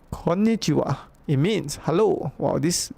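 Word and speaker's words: こんにちは: this is chi, and this is ha actually. But you don't pronounce it ha, okay? It's kind of weird quirk, okay? Pronounce it wa. So, konnichiwa.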